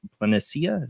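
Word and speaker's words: Palencia: of the blank facade in the city of planetsia is how you say it depicted a smiling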